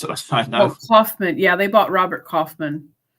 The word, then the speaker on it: Kaufman: How do we pronounce it? I know. Oh, Kaufman.